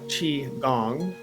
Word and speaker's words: qigong: of tai chi and qigong qigong or pronounced uh chi gong q-i g-o-n-g chi kung